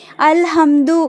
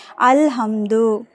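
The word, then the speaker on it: الحمد: அப்பனா லாம் கண்டிப்பா உச்சரிக்கப்படணும். அல்ஹம்து அப்படின்னு நம்ம சொன்னோம்ல ஹாங்கிறது என்ன எழுத்து? கமரியாவுடைய எழுத்து அதனாலதான் லாம சேர்த்து உச்சரிக்கிறோம். அல்ஹம்து சரிங்களா புரியுதுங்களாமா?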